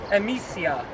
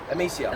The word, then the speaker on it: Emisja: Emisja. Emisja. It's like a mission, because it is a mission.